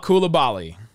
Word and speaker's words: Coulibaly: Number 12, give me the guy whose name we finally learned how to pronounce, Bilal Coulibaly.